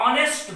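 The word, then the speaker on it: honest: फिर गलत हो जाएगा इसका उच्चारण देखना होगा ऑनेस्ट बॉय ऑनेस्ट और देखिए एम लग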